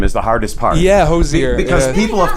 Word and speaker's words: Hozier: their name right you know thank you the pronunciation on your name is the hardest part yeah hozier because people have called it everything you know yeah yeah hozier and cosy yeah yeah yeah you must like